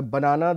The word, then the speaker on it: banana: as I said uh banana the stress is on the second syllable you can see the stress marker is on the second uh syllable here in Panama the stress is on the first syllable and you can say